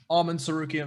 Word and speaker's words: Arman Tsarukyan: So I've been wanting everyone to hear me pronounce the name the right way. It's a big moment. Arman Tsarukyan versus Nasrat Haqparast.